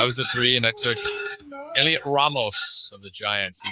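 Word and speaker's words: Heliot: Oh, I was a three in ex Elliot Ramos of the Giants. He got up five times. Can I say Can I say that name is spelled way too cool for it to be Elliot? Elliot.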